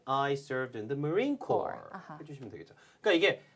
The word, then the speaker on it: Corps: 주의할 건 corpse라고 절대 읽으시면 안 됩니다. corpse 하면 왠지 시체란 뜻이 돼요. 스펠링도 That's 완전히 right. 다릅니다. 아하. 자, 그래서 PS는 완전히 묵음이고요. Marine, Corps. COR처럼 읽으시면 돼요.